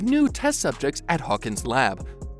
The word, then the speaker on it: Elle: Before Elle, pronounced L, like the letter L, opens her eyes.